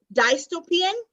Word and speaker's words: dystopian: Dystopian?